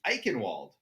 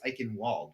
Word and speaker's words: Eichenwald: I know you already told me it's Eichenwald. Eichenwald is our next map. Eichenwald. See, again, it has a W, so you would think it's Eichenwald, but I guess you're right.